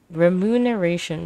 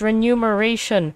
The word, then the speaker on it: remuneration: that we're removing it remuneration remuneration when it's spelled wrong it's renumeration seems quite outsized when